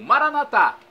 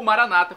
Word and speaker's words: Maranata: de Jesus eu clamo Maranata como dizemos nosso católicos com a tônica na última sílaba ou Maranata com a tônica na penúltima sílaba como dizem nossos irmãos separados os evangélicos ou protestantes não importa pronúncia o significado é o mesmo vinde Senhor Jesus um